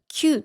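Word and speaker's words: きゅう: And 9 is pronounced “kyuu,” right?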